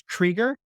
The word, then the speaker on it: Krieger: Brownell actually refers to them as the Gregors, Gregor. We generally refer to them today as the Kriegers, Krieger, though on their gravestones, it's Krieger, Krigr.